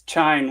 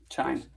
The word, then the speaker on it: chine: It's chine with an N. Chime.